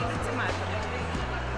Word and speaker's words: дециметр: Наголошування іменників чоловічого роду. Ми чуємо, як говорять: кілометр і кілометр, хронометр і хронометр. А як буде правильно українською? Як правильно: кілометр чи кілометр? Кілометр. Е, дециметр чи дециметр? Ще раз. Дециметр чи дециметр? Ее, дециметр.